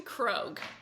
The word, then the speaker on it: Krog: I wanted to make sure your last name is pronounced Grog, right? It's actually Krog.